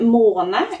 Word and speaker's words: måne: That is how you pronounce this word, måne. It's an O.